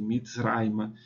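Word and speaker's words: מִצְרַיְמָה: Mitzra, e também fica onde está a sílaba forte, Mitzraima.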